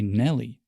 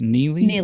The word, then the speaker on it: Neely: Oh, that's how you say it. I always say Nelly. Is that not right? It's Neely? Neely, right.